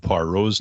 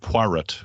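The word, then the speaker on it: Poirot: par rose name uh pronounce it poiret which is the name i the way i pronounced it in my head when i was a kid and then corrected the person in the story so that readers would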